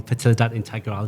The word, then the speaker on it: Fertilidad Integral: Jose Gutierrez from Fertilidad Integral. Did I pronounce that right?